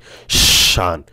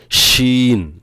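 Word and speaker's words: ش: 6 নম্বর হলো তাফাসি, এই হরফ হলো একটি, এ সিফাতের হরফ আদায় করার সময় মুখের ভিতর শা শা শব্দ হবে, শান, শিন, শিন, এভাবে, অর্থাৎ অনেকে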